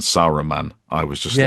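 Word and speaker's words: Saruman: Not that I'm a Tolkian purist, but the every time they said Araman rather than Sarro man, I was just like, what?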